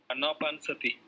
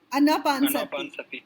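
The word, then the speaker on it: Anapanasati: No, I always forget how to pronounce that term, but Vipassana, that watching the breath, that is the first one. Anapansati. Anapansati.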